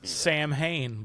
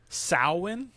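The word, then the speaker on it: Samhain: I know how to pronounce it, too. If I I always thought it was Sam Hayne, but it is not. It's sin.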